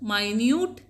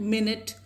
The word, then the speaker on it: minute: Both minute and minute is written in the same way. Both have the same spellings, but they are pronounced differently.